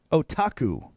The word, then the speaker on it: otaku: introducing to our listeners so the word is otaku otaku otaku and what it means is Grande